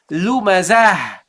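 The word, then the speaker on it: لُمَزَة: The second instance, we pronounce it as a ha. We say lumazah.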